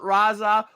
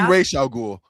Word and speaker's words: Ra's al Ghul: You mentioned a lot of stuff about Raza, which is in way far. It's actually Ra's al Ghul.